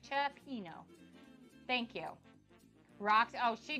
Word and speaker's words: cioppino: Cioppino. Okay, thank you, Top Dog. I said it right. Cioppino.